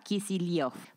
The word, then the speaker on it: Kicillof: lo voy a contar el apellido kisil originalmente se escribe kisil y se pronuncia kisil proviene de kisel una